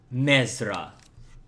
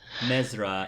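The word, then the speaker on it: Mzra: she does she will lean in your name mesra she says in a very thick or lesan accent and I'm sorry could you repeat and or spell that mesra m z r a mesra purpose why are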